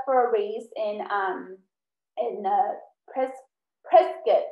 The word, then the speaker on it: Prescott: I signed up for a race in Pres- Prescott. That's how they say it. I used to say Prescott. It's Prescott, Arizona.